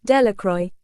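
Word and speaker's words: Delacroix: and Harry Jones and Dicky dequa The Villages pronounced this name Delroy eventually made a great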